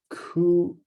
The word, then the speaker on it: coup d'état: At least the English version, coup d'état, is like a forced ejection. So good. And then because it's French, the P is silent. Silent P. It just sounds like coup, like coup.